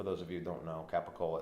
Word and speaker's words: capicola: of you don't know capicola it's pronounced in the Italian world as gabagool not even there's not one letter that he capicola is like ca PA